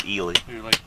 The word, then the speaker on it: Ely: Ely Nevada all right even though it's spelled like Eli it's it's eely yep loneliest Highway in